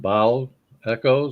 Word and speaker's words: bow echo: them best I think that would be pronounced bow Echo like the bow of a ship bow yeah so they are